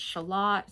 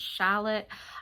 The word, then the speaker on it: Shalott: And side note, some people pronounce it Shalott, some people pronounce it Shallot. I usually say Shalott because, first of all, it's spelled differently than the little vegetables, the springtime vegetables, like the green onions. Shallots are 2 L's, 1 T. This is 2 T's, 1 L.